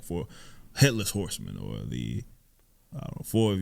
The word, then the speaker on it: Horsemen: properly pronounce his name oh it's not Horseman it's Horsemen well I he'll tell you we were saying like he's he's Horseman like no Horsemen like what you would call like for headless horsemen or the I four